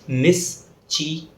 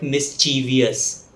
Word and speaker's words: mischievous: The word has only 3 syllables, not 4. So it's mischievous, mischievous, not mischievous.